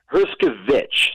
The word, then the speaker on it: Hershkovich: Did I get Eli Hershkovich? Hershkovich. So you got to have the H in there, but it was close enough, man.